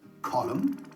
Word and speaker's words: column: really tricky to remember the silent n in the words solemn autumn column and him i remind myself that